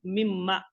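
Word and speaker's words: مِمَّا: So here we have min plus ma. This min, once it is combined with ma, it becomes mimma. This mimma, this noon part, it comes as, you can say, the mudgam with this mim, and it comes as mimma.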